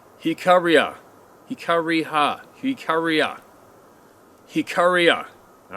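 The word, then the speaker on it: Jicarilla: it's about this digital photo who too experienced jackarilla hika riha oh that's oh sorry that's how it's pronounced hikaria hikariha hikaria hikaria all right this is how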